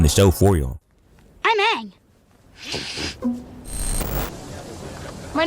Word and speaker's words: Aang: How do y'all pronounce that wrong? He literally says it in the show for y'all. I'm Aang. My name is Aang.